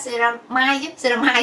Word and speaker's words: ceramide: Thì như mọi người sẽ biết cái ceramide, Khanh hay đọc theo tiếng Việt của mình là ceramic, thì thực tế là mọi người sẽ hay đọc là ceramide á.